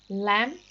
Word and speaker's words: lamb: Lamb is a meat from sheep younger than 1 year, and mutton is meat from sheep 1 or 3 years old. So lamb, B is silent.